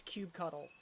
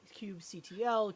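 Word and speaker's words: kubectl: simply saying that uh no one should ever judge you or make you feel insecure about how you pronounce Cube cuddle like however you want to say it is totally all right you know CT Cube CTL Cube cuddle Cube cuddle however you want to say it just Embrace that and go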